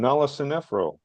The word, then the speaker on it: Nala Sinephro: Faro and uh nro how do you pronounce her name Nala sfro okay sfro and uh she has